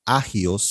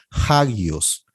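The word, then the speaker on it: ἅγιος: No se leería agios, sino hagios.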